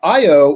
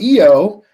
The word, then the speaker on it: Io: you have to remember the io or eo um in the european pronunciation is the most volcanically